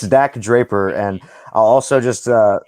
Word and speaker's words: Dak Draper: stuff in ring of honor and then also knock dropper or draper i don't know exactly how to pronounce his name per person it's dak draper and i'll also just uh also correct you